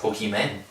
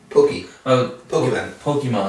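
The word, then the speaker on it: Pokémon: little poke me nice pokeyman pokeyman Pokemon Pokemon it's how it's pronounced it's urban what it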